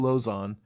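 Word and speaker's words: Lauzon: Lozon. That's how you say it. Joe Lozon.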